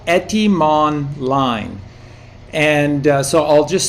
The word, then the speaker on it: Etymonline: with various others as well, but it's called Etymonline. And so I'll just spell it for you.